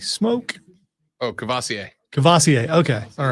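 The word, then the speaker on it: Kavosiey: I would say his name, but I can't pronounce his first name. Is it Where? Who? What? Cavoisi Smoke? Oh, Cavassier.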